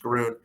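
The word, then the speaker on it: Grön: on this slide is groon that i know it looks like it says grown but it's actually pronounced garun that is the licensing agreement that we signed in december grunt is a female founded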